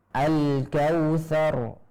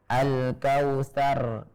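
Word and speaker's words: الكوثر: Jadi ra-nya dengan getaran tetap ada getaran, akan tetapi getarannya itu tidak nampak dengan jelas. Jadi samar-samar dan sedikit. Jadi kalau kita membacanya dengan getaran berlebih seperti Al-Kautsar, maka ini terlalu banyak.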